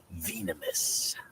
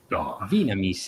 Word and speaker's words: Venamis: I am Darth Venamis. Venamis, ecco come si pronuncia in inglese, me lo sono sempre chiesto.